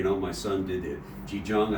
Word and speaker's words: Qigong: Qigong, I believe it's pronounced, right? Qigong.